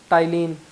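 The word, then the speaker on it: ptyalin: टाइलिन में शायद पी भी होता है, सॉरी मैं टाइलिन में एक बार चेक कर लेना आप लोग, मैं श्योर नहीं हूँ, लेकिन फिर भी मैंने पी लगा दिया यहाँ पे।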